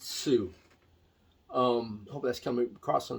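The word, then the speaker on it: Sioux: You spell it S-I-O-U-X. I assume you pronounce it Sweet Sue.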